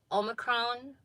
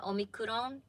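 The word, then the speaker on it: オミクロン: understand what i'm saying japanese is pronounced very syllabically so if i say omicron it probably doesn't make sense because on the news they call it omikurong so syllable by syllable anyways we do have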